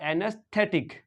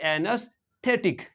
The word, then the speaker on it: anaesthetic: क्या हो जाएगा एनस और ये जो टी एई है इसको भी सॉफ्ट टी एच पढ़ेंगे और एनेस्थेटिक क्या पढ़ेंगे और ये सी है इसको के पढ़ेंगे और आई का साउंड तो आई शॉर्ट आई रहेगा यानी कि टिक रहेगा टिक टी आई के टिक तो इसको पढ़ेंगे एनेस्थेटिक क्या पढ़ेंगे एनेस्थेटिक क्या पढ़ेंगे